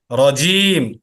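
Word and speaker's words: رجيم: এই যে জিহ্বার যে মাঝখান, ওই মাঝখানটা একবার উপরে যে তালু আছে, তালুর সাথে লাগালে তিনটা অক্ষর উচ্চারণ হয়।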